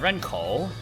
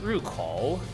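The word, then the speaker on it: 入口: So I was like, okay, that's Ren, and then you have Renkou, entrance. But then I later learned that it's actually pronounced Rukou.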